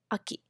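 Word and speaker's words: 秋: slash false we call a key uh Ki Aki winter we say who you who you who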